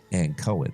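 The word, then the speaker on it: Ankoan: place, the wave, blade, and Cohen. That'd be the right way to say it, and Cohen.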